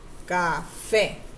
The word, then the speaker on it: café: Café. Uno, dos. Now, where is the stress? Café. Café. The stress is on the fe, right? Yes.